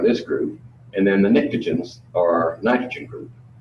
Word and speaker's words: pnictogen: So the chalcogens are this group, and then the pnictogens are nitrogen group. Pnictogen starts with a P. I don't know why the P is silent.